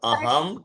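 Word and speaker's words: अहम्: गच्छमि अहम पठम बेटा वो म पूरा नहीं है अहम म पूरा नहीं है उसके नीचे दंडी है तो अहम गच्छामि अहम गच्छामि अहम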